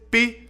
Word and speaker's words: pi: Mientras tanto, la mención del número pi hace babear a Homero, pues en inglés pi se pronuncia como pie, que es un tipo de pastel.